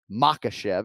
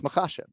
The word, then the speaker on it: Makhachev: it outstanding that's all so we're emphasizing the second syllable right so it's not makashev right it's makasha right so we're not it's not makashiv right fighting bobby green